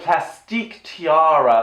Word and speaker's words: Plastique Tiara: pronounced I don't know like plastique tiara like the eek makes it more French right so it's like anyway